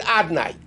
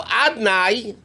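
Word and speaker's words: Adonai: But we don't pronounce it Yud Ke Vav Ke. It's written Yud Ke Vav Ke. How do we pronounce a bracha? Baruch Atah, with the word Adnai.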